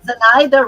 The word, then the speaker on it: Zenaida: Zenaida rhymes with Ensaymada.